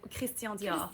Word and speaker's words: Christian Dior: Yeah, I say Christian Dior. That's how you say it. Yeah, because he's French, right?